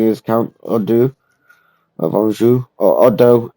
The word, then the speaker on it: Eudes: Seventh Generation starting is Count ODU ofu or Odo it's just it's pronounced it's spelled differently but it's pronounce I